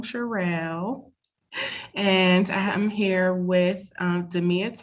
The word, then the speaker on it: Cherrell: As you know, I'm Cherrell, and that's how you say my name, Cherrell.